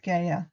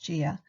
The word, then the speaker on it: Gaia: And Greek legend tells us that Kronos, Saturn, castrated his father Uranus while Uranus lay in bed with Gaia, sometimes pronounced Gia, with Gaia, when Saturn threw his father's testicles into the sea near Cyprus.